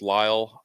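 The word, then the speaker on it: Lile: Dalon Lyle, I think it's pronounced Lyle. Um, it is.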